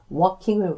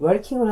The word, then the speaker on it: walking: walking을 working이라고 발음하시는 분들이 종종 있는데 그 굉장히 misunderstood 오해를 불러일으키기가 딱 좋죠.